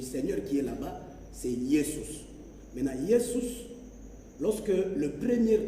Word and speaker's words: Jesus: Maintenant, Jesus, pour être prononcé, les S entre deux voyelles, ça sonne Z. Hein? C'est pourquoi, chez les latins, ils appellent Jésus Jesus.